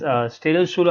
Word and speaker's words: Städelschule: It's Städelschule architecture class.